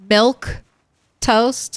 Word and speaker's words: milquetoast: And is it is it actually pronounced milk toast like that?